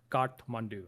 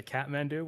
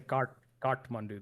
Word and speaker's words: Kathmandu: And Kathmandu is the capital, and that's how you say it in Nepali. Is Kathmandu. It's hard to say. I know a lot of English people say Kathmandu, which is fine, but I say Kathmandu.